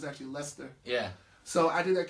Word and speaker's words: Leicester: Americans say Leicester, but it's actually Leicester.